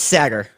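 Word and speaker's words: Saagar: how you pronounce it. It's Sagar.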